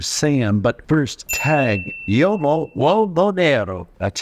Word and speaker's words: Uomo Nero: But first, Tag Uomo Uomo Nero. That's how we pronounce this.